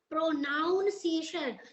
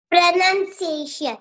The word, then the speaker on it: pronunciation: the word pronunciation wrong it is not pronounciation the word is pration prun n pronunciation the word is pronunciation ex exactly you are